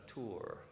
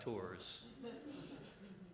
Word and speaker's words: Tours: And he probably pronounces it Martin of Tours, not Tours.